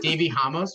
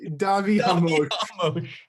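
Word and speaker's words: Davi Ramos: Davy Ramos. What is it? Davy Ramos? It's Davi Hamosh.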